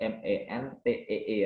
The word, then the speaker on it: mentee: Jadi kalau dalam mentoring dibina, narasumbernya itu namanya mentor, pesertanya namanya mentee. Tulisannya MENTEE ya, bacanya mentee.